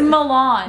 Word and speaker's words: Milan: Guys, we need Caesar Malone here. It's Milan. Caesar Malone.